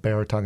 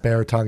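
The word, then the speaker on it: Beratung: financial planning firm called baritone advisors and bear tongue is a german word that i pronounce incorrectly because my pittsburgh accent but it's a german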